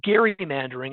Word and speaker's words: gerrymandering: the some of the real hardcore um Jerry mandering experts who want to in who want to emphasize the historical tie will say Gary mandering as opposed to Jerry mandering but I think we most of us say Jerry mandering but it was Elbridge